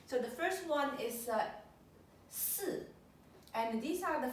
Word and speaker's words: 四: So the first character here is the 4th tone, 四.